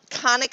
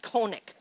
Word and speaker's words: conic: I would really like if it were pronounced conic, but it's not. It's pronounced conic.